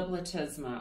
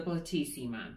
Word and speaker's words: platysma: little moment is the platysma. Or if you want to pronounce it like how I did at first, the platysima.